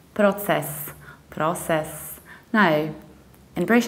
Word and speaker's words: process: reduce the ending and you can say process process however in the American accent so we do something totally different because we don't say pro but we say prowl with our it's process process so process versus process process our next word is